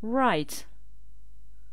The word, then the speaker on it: write: comprendre understand gager whenn écrire write on ne prononce pas le W